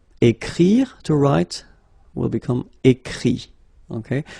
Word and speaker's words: écrit: Écrire, to write, will become écrit. Okay, remember that phonetically this final T doesn't exist. Okay, so the sound will be only this I, écrit.